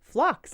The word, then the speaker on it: phlox: talking about creeping flocks flocks like flocks of geese or I know it's spelled pH LX and this is what